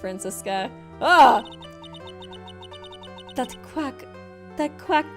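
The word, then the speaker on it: Franziska: crap oh my God Francesca francisa it might be pronounced francisa ah that quack that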